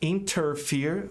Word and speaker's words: interfere: A palavra interferir, o verbo, pode ser interfere, mas o americano geralmente não pronuncia esse T. Tem regra para isso.